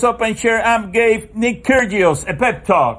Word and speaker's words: Kyrgios: open care I'm gay Nick Kyrgios a pep talk o Terios I believe that G is silent there that's okay you